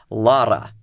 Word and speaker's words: Laura: It's Lara. Oo, it's L A U R A but with a rolled R.